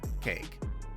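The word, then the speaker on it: KAEC: little better and yes i know it's spelled as k-a-e-c but i'm still gonna call it cake cake is one of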